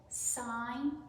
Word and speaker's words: sign: Sign, G is silent.